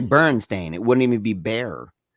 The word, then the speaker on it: Berenstain: it's it's spelled it's spelled b-e-r-e-n-s-t-a-i-n bernstein not berenstein berenstain and it's actually burn stain it wouldn't even be